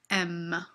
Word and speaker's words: aiment: You actually don't pronounce them. J'aime, tu aimes, il aime. Nous aimons, vous aimez, ils aiment. On ne prononce jamais le ENT. Don't do it.